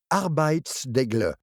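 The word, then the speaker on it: arbejdsglæde: danois aussi unique qu'original arbit degle b GL commençons par apprendre à prononcer le MotB croquez un gros morceau de pomme coincezle dans votre gorge et dites signifie travail joie combinez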